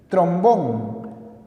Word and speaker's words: trombón: las esdrújulas llevan tilde trombón lleva tilde porque se trata de una palabra aguda terminada en n álbum es palabra